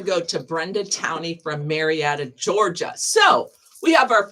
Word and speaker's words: Marietta: Okay, that's going to go to Brenda Towney from Marietta, Georgia. So, we have our first out of state winner. I think it's Maretta.